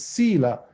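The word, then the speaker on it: sīla: uh uh sila oh not fila it's sila s as in simon i l a the i is a long e it has this diacritical mark on it sila is um it's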